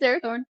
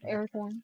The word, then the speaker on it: Arathorn: It's Arathorn. Arathorn. Oh, okay. Arathorn. Okay. Aragorn, I was son of Arathorn.